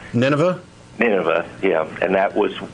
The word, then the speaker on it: Nineveh: at just give me an example well um was nevia I'm not sure if I'm saying it right it was a city that U Nineveh Nineveh yeah and that was wiped out it